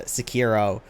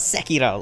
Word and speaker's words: Sekiro: __ ] for so long i heard people pronounce it uh sakiro and i was like that's not how it's